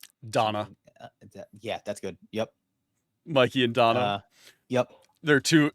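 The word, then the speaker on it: Myke: I it's it's uh it's Mikey but spelled like m uh y ke uh so it's uh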